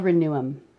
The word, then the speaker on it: Reneum: What's it called again? It's called Reneum. And can you spell it? R-E-N-E-U-M. EU. E-U-M. No one ever gets it.